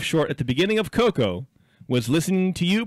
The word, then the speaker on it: Coco: Yeah, I know it's pronounced Coco.